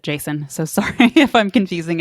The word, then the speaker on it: JSON: Jason is uh and it is Json just for those I just sort of pronounce it Jason so sorry if I'm